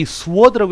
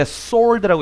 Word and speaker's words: sword: 그 펜이 어떻게 그 sword, 이 sword라고 읽으면 안 돼. sword라고 읽는데 the pen is mightier than the sword.